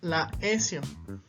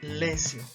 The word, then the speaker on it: laesio: No vamos a pronunciar laesio, sino como está este diptongo y la regla me dice que pronuncie simplemente E, yo la voy a pronunciar lesio. La forma correcta de pronunciar la S entonces va a ser lesio.